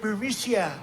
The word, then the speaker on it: Burisma: So now, that said, these allegedly showed smoking gun emails between Hunter Biden and a senior Burisma, or as Donald Trump says, Burisma. They say, pronounce it Burisma.